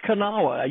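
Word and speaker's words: Kanawha: there on the kaawa river and it is kaawa you you have no idea how many times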